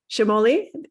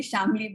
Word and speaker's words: Shamoli: Shamoli, am I pronouncing that right? It's a funny pronunciation. It's actually Shamli, but that's Shamoli, okay.